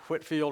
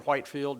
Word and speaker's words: Whitefield: guys like Jonathan Edwards, George Whitefield, or Whitefield, depends on how you want to pronounce his name, I guess. I've heard it both ways.